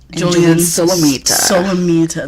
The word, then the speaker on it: Julian Solomita: Julian Solomita.